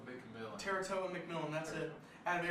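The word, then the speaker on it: Tetairoa: One week they're taking I don't know how to pronounce his name. Tetaroa McMillan. Teratoa McMillan, that's it.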